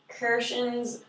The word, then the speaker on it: Krashen: It was that Krashen's, how do you say his name?